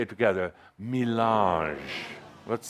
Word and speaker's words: mélange: ADAMUS: You really have to hear the nuances in this, the beauty of the French language.